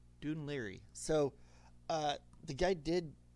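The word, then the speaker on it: Dún Laoghaire: At first I was saying Don La or something like that is Dun Liry. Dune Liry.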